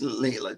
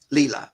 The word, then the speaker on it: Leela: There's Leela too. Leela. Oh, good. I did it the second time, huh, Leela? No, since I said it wrong, I was like, wait a minute, that's not right.